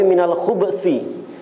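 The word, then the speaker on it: مِنَ الْخُبْثِ: Nah, ada sebagian ulama membacanya bukan minal khubi tapi minal khubsi. Bnya disukunkan minal khubsi.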